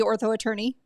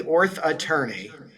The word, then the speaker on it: Orth Attorney: Tell me, is it the Ortho Attorney? Yeah, it's the Orth Attorney. The That throw Orth Attorney. Orth Attorney. I was trying to make it the same number of syllables as orthodontist. Apparently, I found out since then Ortho Attorney is much less confusing. But yeah, it is at the Orth Attorney, all one word.